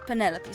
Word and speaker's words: Penelope: Penelope officially yes but I never can be bothered with all four syllables of it Penelope sounds a little Austin